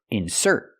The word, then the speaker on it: insert: insert in the magazine now let's talk about the verb insert putting the stress on the second syllable he has to insert his card into the ATM he has to insert his card I cannot say he has to insert his card no I put the stress on the second syllable because it's a verb he has to insert